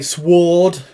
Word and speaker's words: sword: like some people say sward you know why do they i mean to me sword has got a silent w some people pronounce the